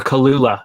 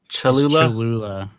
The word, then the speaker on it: Cholula: Or Cholula. How do you say that? Cholula.